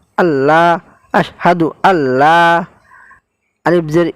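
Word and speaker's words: الله: যাই হোক, আপনারা এখানে আল্লাহ শব্দ উচ্চারণ করার সময় আল্লাহ পড়বেন, লা পড়বেন না।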